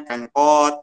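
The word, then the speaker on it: Pancoat: Sekarang lagi rame itu produk Dickies, lalu ada juga produk Korea itu namanya Pancowat, bacanya Pencot gitu kan.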